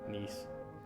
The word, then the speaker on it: Nice: Nice. I know it's not pronounced like nice, but It's just funny.